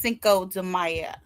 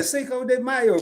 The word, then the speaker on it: Cinco de Mayo: Cinco de Maya. Am I saying it right? Yeah. Cinco de Mayo.